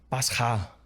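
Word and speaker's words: πάσχα: agora na pronúncia mas Páscoa no grego se se fala pasá e sofrimento se lê pasou você vê muito próximo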